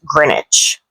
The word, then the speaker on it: Greenwich: So probably you know that this is pronounced as Greenwich.